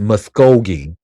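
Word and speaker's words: Muskogee: Oh, it's it's pronounced Muscogi or Musco. Is that Muscogee or Musco G?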